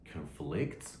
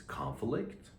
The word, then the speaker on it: conflict: It's both a noun and a verb. When you use the noun, the pronunciation is conflict, but the verb is conflict. So conflict, conflict. Here in this sentence, we use the verb.